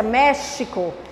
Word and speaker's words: México: Olha a pronúncia, México. Em seguida, xadrez, Oxalá, mexer, Alexandre, México e xadrez. Sempre com o som do CH.